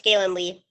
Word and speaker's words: Gaelynn Lea: Did I say that right? Yeah, it's Gaelynn Lea.